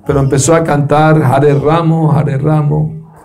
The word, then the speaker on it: Ram: La pronunciación correcta es Ram, Ram, no Ramo. No es la rama de un árbol, es Ram, Ram, la primera más larguita. Ram, Ram, y la segunda más chiquita.